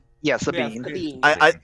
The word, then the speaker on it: Sabine: Yeah, Sabine.